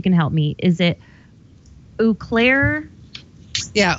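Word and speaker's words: Eau Claire: I think you can help me is it oair yeah oair e EA CL a r yeah oair okay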